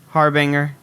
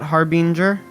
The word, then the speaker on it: harbinger: just doing something wrong it is harbinger it is not harbinger it's also not Harbinger I don't think anyone says that though it's harbinger also yes as